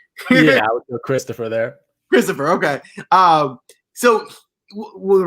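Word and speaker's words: Kristoffer: interesting one here is, would you pronounce it Christopher something wants me to do Christopher Ventura. It's Mm. Christopher, right? It's just spelled with a K. Yeah, I would go Christopher there.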